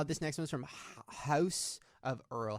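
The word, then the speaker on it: Haus: next one is from house of earl how do you say that h-a-u-s i don't like when people involve things like that like a house like house like house house yeah house of earl said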